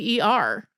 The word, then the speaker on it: water: Most of us in the US say it sort of similarly to water. Right. Which has a D in it and not a T, which is not how it's spelled.